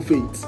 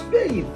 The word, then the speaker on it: Faith: that's okay yeah why do you call people faint why tell me what what the correct pronunciation of that name is Faith wow wow stop all this rubbishop hey it's the age give the dental sound hey did you get